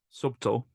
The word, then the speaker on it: subtle: Subtle has a silent B in it. Subtle.